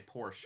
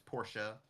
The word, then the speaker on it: Porsche: Like a lot of people will say Porsche, but it's Porsche, or that might even be still right.